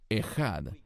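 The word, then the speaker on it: אחד: En hebreo uno se dice ejad.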